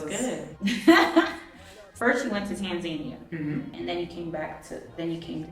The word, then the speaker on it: Tanzania: First you went to Tanzania, and then you came to Kenya for your 3-month stay.